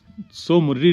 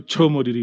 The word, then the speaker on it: Tso Moriri: इसे करजोक बोलते थे हम कारजोक नहीं है कोरजोक है और सो मुररी नहीं बोलते इसको छो मुररीरी बोलते हैं सो is actually in Ladakhi pronounce है छो तो पगोंगछो राइट अब